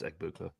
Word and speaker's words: Egbuka: their main three receivers is it egbuka is that how you pronounce it yeah it's egbuka they're uh tight end